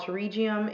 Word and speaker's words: pterygium: That's called pterygium, and by the way, people, it's spelled with a P.